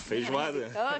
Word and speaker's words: feijoada: Yes, feijoada.